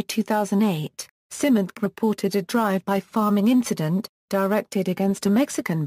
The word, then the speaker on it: pharming: The word pharming is pronounced as farming.